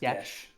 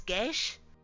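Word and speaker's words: geas: this pretty good though yes Gish that is pronounced Gish is it yes yes g e a s is Gish g a e s all I had it backwards fine it's Irish too so yeah that makes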